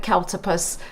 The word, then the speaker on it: Cowltopus: So Cowltopus, I was asked a little bit how to pronounce it, and I think about it like hippopotamus, but Cowltopus. They sound similar but different.